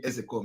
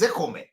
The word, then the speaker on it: Ezekome: Ezekome is the pronunciation. A lot of people don't know. You know, they come and they pronounce his name and adding K is a Kome. And they say it's a Kome. It's not a Kome.